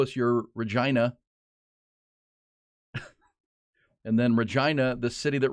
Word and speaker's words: Regina: think it's Regina but it says here that the way they pronounce it it rhymes with you know what yes Regina so mangina yes exactly